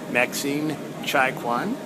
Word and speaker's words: Maxine Chaikouang: We're at HiFi Gym with Maxine Chaikouang. Did I come close to pronouncing that correctly? Yes, okay. very close.